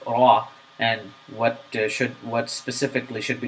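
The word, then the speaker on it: راء: This letter is pronounced from the tongue. It is a characteristic of this letter that there is repetition in this letter, but this characteristic should be avoided.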